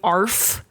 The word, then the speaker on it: Arf: You got to say it like Arf. that though. Arf. You got to say it like a bark.